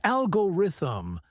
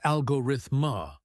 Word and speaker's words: algorithm: First, many people mispronounce algorithm. Exactly. It's algorithm, not algorithma or algorithm.